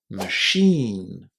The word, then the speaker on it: machine: The ch is pronounced as a shh. And the first syllable is not stressed. It's very very short. Machine. Machine. Can you hear how much emphasis there is on the second syllable here? There is a long e in there too. Machine. Machine.